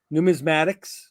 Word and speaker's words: numismatics: mean we want to start talking about um numismatics thank you for correcting my pronunciation to that uh coins uh sports cards